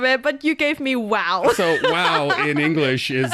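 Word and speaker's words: 哇: The thing is in English you say wow. So there is a oo sound at the end of the wow. In Chinese it's just wow. Wow. Yes. Just ah.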